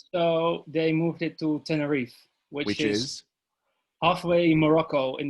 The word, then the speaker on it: Tenerife: mountains of oberendorf to the seaside of terraneef how do you say that anna reef tenerife yes that's in spain i know i thought